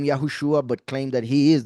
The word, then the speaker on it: Yahushua: And like I show right here, you can see how those two words are pronounced. I mean, two words because I separated it here. Yahushua.